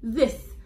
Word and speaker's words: this: اول حاجه قبل ما اقرا الستوري انا هعرفكم بالكلمه ديت، الكلمه دي اسمها this، التي اتش بتتنطق كانها حرف الزا، زا صوت حرف الزين، والكلمه ديت يا اولاد هي اسم اشاره.